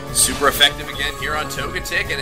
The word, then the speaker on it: Togetic: can he take out togetic togetic never understood which one is the right way to pronounce that I've heard I said togetic and I've heard togetic so which both seemed fine to me togetic it is until